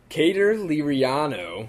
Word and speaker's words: Cater Liriano: It's Cater Liriano. Yes. So thank you for preemptively, telling us the pronunciation.